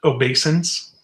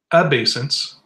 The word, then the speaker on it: obeisance: Noun, obeisance. It can be pronounced obeisance, obeisance, obeisance, and obeisance. Okay.